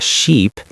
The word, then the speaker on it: sheep: So ship is the big boat. Sheep is the animal with wool. The i and e sounds are different.